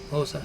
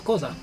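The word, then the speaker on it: Xhosa: Zulu uh STI um kosa thank you no no it's kza yeah kza um those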